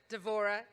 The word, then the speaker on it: Devora: And I remember first meeting President Lieberman another Deborah, Devora, but with a V, and thinking, she spells her name the way my family says my name. You know, those B's are pronounced as V's in Spanish.